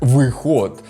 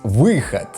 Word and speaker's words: выход: Русское "выход" никогда не произносится как "выход", русские тоже говорят "выхад".